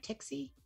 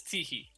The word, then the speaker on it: Teehee: Tixie? The coyote? It's Teehee. Like Teehee. A laugh. Teehee.